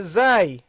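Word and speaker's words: ز: Okay, and in some countries they pronounce all these letters the same. You see, the dhal and the zai and the va, all they pronounce it as a zai, and that's not the case.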